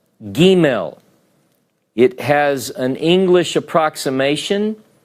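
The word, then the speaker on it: גימל: your chart you'll see this letter is called Gmail Gmail it has an English approximation of G the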